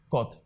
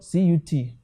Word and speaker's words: cut: a word for example a word like c u t and call it god but in nigeria when you see the word cut we will say it is what cut it is not called but what cut every south african child